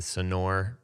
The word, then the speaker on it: Sonore: we're gonna talk about as i mentioned the sonore is that am i saying it right uh